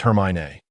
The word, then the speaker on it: Hermione: He was quite sure about the correct pronunciation. It's okay, Hermione said gently. It's Hermione.